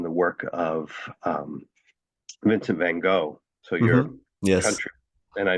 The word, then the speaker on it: van Gogh: especially interested in the work of um vincent van gogh so you're yes and i know that i'm not pronouncing his name properly but uh you want to try it van gogh van gogh Perfect.